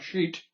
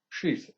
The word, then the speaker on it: sheath: And I said, in that etheric body, there are additional bodies which I call sheath bodies, not sheet, sheath, S-H-E-A-T-H, sheath.